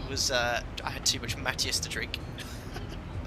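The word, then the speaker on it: Mateus: I had too much Matthias to drink. it's a Portuguese wine, the one in a funny bottle. You've never heard of Matthias? Probably not spelled like you spell it. M-A-T-E-U-S. Yeah. Matthias. Oh, for goodness sake.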